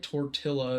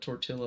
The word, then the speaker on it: tortilla: Because we have, if it's two L's, it's a yeah. It's yeah. It's a Y thing. Yeah. But that's like why tortilla is a thing, but I feel like people know that tortilla is not how you say it.